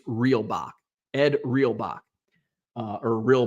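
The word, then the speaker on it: Reulbach: real Bach I always I've always called him rule Bach but I did see a pronunciation and I've been pronouncing it wrong all this time I think it's real Bach Ed reelbach uh or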